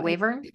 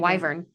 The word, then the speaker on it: wyvern: Wavern. Wyvern. Wyvern.